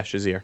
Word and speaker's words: Shazier: Yeah, Shazier.